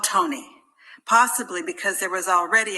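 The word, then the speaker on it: Tone: The new baby, Anton, was called Tony, possibly because there was already an Anton in the house, his grandfather. It is spelled T-O-N-E in Slovenian, but pronounced pretty much the same as in English.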